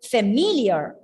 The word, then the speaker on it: familiar: The second syllable is stressed. So how do you pronounce that word? Familiar.